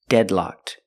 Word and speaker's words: deadlocked: learning this word deadlocked pronunciation deadlocked use the short a sound like red and head dead and then locked use the short a sound like block and clock locked the Ed is pronounced with a pure T sound locked together deadlocked it's an adjective it's used